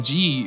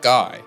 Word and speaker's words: Gi: we get Exposition where I learn G is pronounced G and not guy uh so sorry my